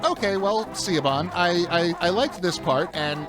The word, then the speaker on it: Siobhan: And the first words out of her mouth after I'm done talking is, it's pronounced Siobhan.